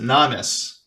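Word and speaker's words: Nomis: n o wait yeah n o m i s so I pronounce it namis the namus river and then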